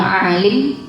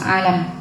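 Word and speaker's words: عالم: Qala Syekh Fqih al imamul alam kang dadi imam mul alim. Alim nggih sanes alam. Kalau ainnya panjang berarti niku bacanya alim.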